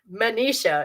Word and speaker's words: Manisha: Unless you subscribe to a worldview like Manisha is her name, not Misha. I got her name wrong in this week's video, and I apologize about that, I guess.